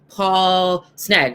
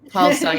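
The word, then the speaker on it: Paul Sng: How did it, and you have a co-director, Paul Sneg, right? Is his Paul Sung. Paul Sung, that's his. Okay, I want to make Yeah, sure I it's pronounce like his name right. it's Paul Sung, yeah.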